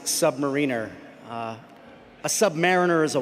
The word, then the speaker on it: submariner: Huya Navy and it is it is it's this is controversial but it is pronounced submariner.